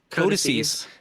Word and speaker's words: codices: basically the information in those lost codices are invariably Did I say it wrong again? Codices. The information in these codices is destined to eventually, like